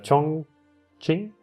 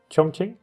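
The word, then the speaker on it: Chongqing: his name too much its chong ching chong qing maybe i know it's the cue now i was corrected early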